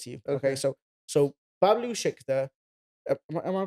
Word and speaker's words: Bablu Shikdar: so Bablu Shikdar, am I pronouncing that Yeah, right?